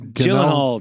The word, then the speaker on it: Gyllenhaal: Jake Gyllenhaal.